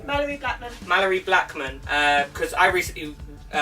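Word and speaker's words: Malorie Blackman: Mallory Blackman.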